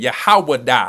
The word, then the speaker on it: Yahawada: Bun Yehuda. But okay, I ain't gonna mess your name up, but that's how you say it. Yahawada. Ain't no U's up in Hebrew. You must be using the Yiddish, but it's all good.